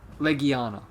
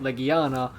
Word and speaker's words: Legiana: yes i know the monster is called like leguana yes i know that's how the wording is and that's how it's properly pronounced i just got used to calling it legiana because that's what i thought because of me